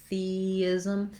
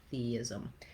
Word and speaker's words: theism: Same thing with theism, theis. You'll just naturally make a gliding sound as you're moving from that tense E to the lax I sound, theism.